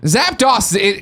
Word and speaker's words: Zapdos: Zapdos, come on, DOS at the end.